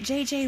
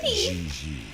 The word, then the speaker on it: J.J.: En français, you pronounce G like J and J like G. She may very well be JJ in America, but in France, she is Gigi.